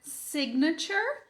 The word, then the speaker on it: signature: Então, a palavra signature tem esse mesmo início, né? Como na palavra sign, mas ela vai ter o sig claramente pronunciado. Beleza, teacher, entendi. Então, a gente tem aqui o início sig, como na palavra anterior que a gente já sabia, né? Sig. Mais um schwa, signa, signa.